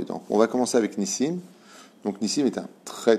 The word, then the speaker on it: Nissim: Donc, on va commencer avec Nissim. Donc, Nissim est un très, très, très joli nom. On dit Nissim ou Nissim? Nissim. On ne dit pas Nissim, on dit Nissim.